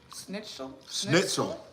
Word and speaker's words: Schnitzel: Schnitzel? Schnitzel. It's got a Z in there. Like the Pulitzer Prize.